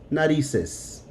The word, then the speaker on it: narices: It's not going to change the sound. Nariz, narices. The C and the Z are going to sound both like an S.